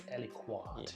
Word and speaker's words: aliquot: Apparently, it's Aliquot.